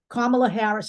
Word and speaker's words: Kamala Harris: make it obvious to you let's talk about Kamala Harris and that is the correct way to say